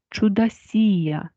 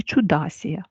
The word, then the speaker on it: чудасія: я вам скажу що правильний наголос у багатьох критеріях дається чудосія чудосія на балконі хоча зустрічається і чудасія але ми будемо вживати чудасію на балконі Отже якщо ми